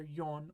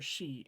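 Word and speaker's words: 四: a four floor or can be pronounced either yon or she in Japanese as I said my experience is that most people count like Etc but most people will prefer to use yon over she when they might just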